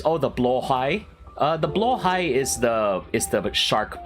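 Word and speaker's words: Blåhaj: So apparently it really is, it's supposed to be pronounced blowhigh and not blahaj.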